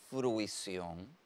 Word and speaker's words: fruición: nos trae el sustantivo fruición es un sustantivo que tiene ti de ortograf es una palabra aguda terminada en N lleva tilde en la o y que cumple con